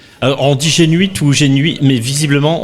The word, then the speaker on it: Génuit: on dit Gén ou génuit mais visiblement on prononce pas le T c'est ça selon si